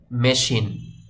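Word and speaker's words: machine: tension করার কোন দরকার নেই তো শব্দটির সঠিক উচ্চারণ হবে মেশিন মেকানিজম এখানে দেখুন এই সি এইচ এর উচ্চারণ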